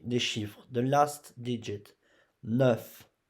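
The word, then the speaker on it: neuf: 9, 9. E, here. You don't pronounce U. You pronounce E.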